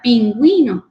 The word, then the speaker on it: pingüino: Indica que esta debe pronunciarse en las sílabas con G, wi, ¿verdad? Pingüino, lingüística. Entonces, cuando la diéresis va en la U, significa que debemos de pronunciar con la G, wi, ¿verdad? Como por ejemplo, pingüino y lingüística.